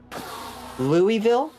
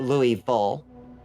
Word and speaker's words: Louisville: Louisville is how I say it. But I think people in Louisville say it Louisville.